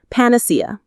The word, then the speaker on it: panacea: Panacea. The stress falls on that C syllable.